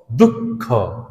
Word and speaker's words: দুঃখ: হবে অতঃপর অতঃপর যেমন দুঃখ দশ বিসর্গ খ দুঃখ খ টা দ্বিতীয়বার দুবার উচ্চারণ হচ্ছে তো এইরকম হলো উচ্চারণ